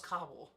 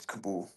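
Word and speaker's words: Kabul: I thought it was Is it Kabool? I thought it was Kabell. It's Kabool. Okay. At least that's how they pronounce it.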